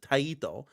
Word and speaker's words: Taito: You pronounce it taito, like konami, kuname, like stuff like that.